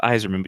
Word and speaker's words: Yzerman: Steve Yzerman all right it's not Steve Yzerman it's a Steve zere Minh guys it's just Yzerman you mispronounced it I mean he obviously